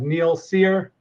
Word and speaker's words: Neal Cyr: We have Neil Seir. Did I pronounce that correctly?